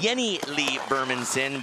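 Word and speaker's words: Jennie-Lee Burmansson: go to a fifteen year old now it's pronounced Jenny Lieberman's in but she likes to be called Jenny Lee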